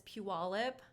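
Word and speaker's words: Puyallup: husband's from in washington it's puella and not many people say it right when you look at it so i'm learning and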